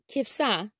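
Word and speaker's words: כבשה: Sheep is pronounced kivsa, kivsa in Hebrew.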